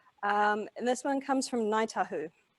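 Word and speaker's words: Ngāi Tahu: And this one comes from Ngaitahu. So Ngaitahu don't actually call themselves Ngaitahu. They don't use the NG consonant blend. They use a K in place. So if you try saying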